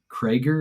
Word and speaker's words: Cregger: I'm not familiar, and I actually didn't even look if Zach Cregger, is that how you say it?